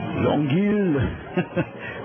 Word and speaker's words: Longueuil: And because he's the expert on such matters, I'll let Tim Neverett pronounce his hometown. Longueuil, Longueuil, Quebec.